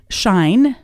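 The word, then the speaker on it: Schein: one of the prominent ones is shine and that's spelled s c e i e i n yeah Edgar Edgar shine is the author and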